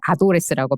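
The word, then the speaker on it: ADDress: 구독하는 서비스가 이미 생겼더라구요 어드레스를 바르면 아도레스라고 발음을 해서 잠시 잠시 이렇게 약간의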